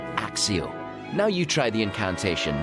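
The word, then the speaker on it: Accio: see if they how they pronounce it though axio yeah see to pronunciation we know picture the object clearly in your mind and say axio now you try the incantation nice and clearly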